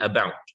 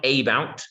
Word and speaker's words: about: the uh uh yeah like the the a in about uh about yeah it's not it's not a bout it's uh about um yeah and about